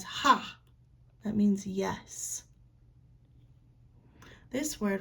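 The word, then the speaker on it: haa: It looks kind of funny here, but we pronounce it as ha.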